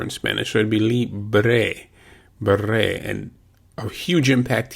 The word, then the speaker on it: libre: The L-I is pronounced as if in English as if it were L-E-E. Li. Li. Then B-R-E, bre, would be pronounced similar to the commencement of the work break. Bre, bre, libre. That would be the Anglican pronunciation.